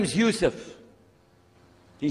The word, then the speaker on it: Yusuf: alhamdulillah my name is Yousef did you say Yousef you say Yousef you're